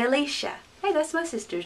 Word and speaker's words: Alicia: english name we'd say alicia hey that's my sister's name alicia but the spanish pronunciation would have each vowel letter making a sound alicia alicia alicia you try it alicia oh next